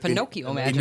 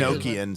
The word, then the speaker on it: Enochian: It sounds like Pinocchio magic. Enochian. So from the Enochian magic, I guess would be a better term or a better pronunciation.